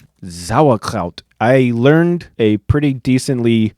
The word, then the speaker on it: Sauerkraut: often surprised Bratwurst mit Sauerkraut. When they hear that we pronounce the S at the beginning of the word like a Z sound. Sauerkraut. Sauerkraut.